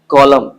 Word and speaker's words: column: Haim, solemn, column, condemn, autumn. तो आपने ध्यान दिया that if I pronounce these words, I don't pronounce that न.